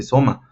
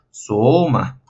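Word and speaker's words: σῶμα: este pequeño signo ortográfico, podríamos pronunciar simplemente soma. Pero como tenemos este pequeño circunflejo, tenemos que modificar la pronunciación de la vocal. En este caso sería soma. ¿Por qué? Porque intentamos dar una enunciación alta y después una enunciación baja.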